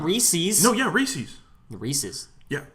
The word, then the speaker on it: Reese's: Oh, it's definitely Reese's. It's Reese's. It's Reese's. Definitely. It's not Reese's. They named it Reese's Pieces because it rhymes.